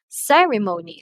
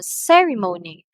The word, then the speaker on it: ceremony: word it receives like for example ceremony right ceremony so aside from its loudness its length the longer it is pronounced and the peach right so ceremony ceremony so the other syllables might be pronounced monotonous pero on this uh in the first syllable young ceremony so tata those are